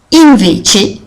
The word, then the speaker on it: invece: Invece, attention à bien prononcer le tch que vous connaissez très bien maintenant.